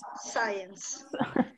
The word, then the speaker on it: science: Ok, science. Sì, sì, è vero, è una pronuncia un po' strana, science, come se questa fosse una S, science, scientific, scientist, ok?